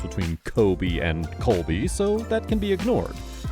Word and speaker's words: Colby: he's heard Donald Trump referring to him as Kobe as in k-o-b-e instead of Colby to be fair there's a very subtle difference between Kobe and Colby so that can be